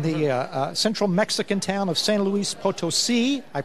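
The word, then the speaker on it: San Luis Potosí: It'll take place in the central Mexican town of San Luis Potosi. I pronounced that correctly, by the way.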